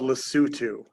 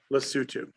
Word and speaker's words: Lesotho: in the middle we have a country called lesotho l-e-s-o-t-h-o lesotho okay l-e-s-o-t-h-o all right um you spell it lesotho but you say lesotho right um